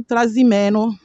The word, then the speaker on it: Trasimeno: En italien, c'est Lago Trasimeno et Transimeno.